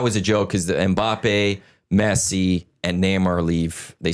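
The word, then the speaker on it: Mbappé: Mbappe.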